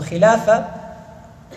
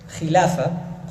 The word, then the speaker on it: khilafa: So khilafa, you could translate, it's not even a translation, it is a transliteration. All they're doing is they're finding the English equivalent in pronunciation. So it is khilafa in Arabic, and the one who